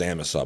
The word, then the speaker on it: Amasa: But if you have a heart attack north of Amasa, it's pronounced Amasa, by the way, where I go wolf and and moose hunting.